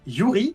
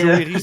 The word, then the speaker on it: Yuri: Eh bien, donc effectivement, je suis Yuri, ça se prononce bien Yuri. Exact, pas Et, Joeri, bien sûr, oui.